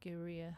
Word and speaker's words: Gaerea: we're gonna see what Geria have to offer. I hope I'm pronouncing that right. I've looked at 5 different interviews and they pronounce it like that, so I'm hoping that's correct.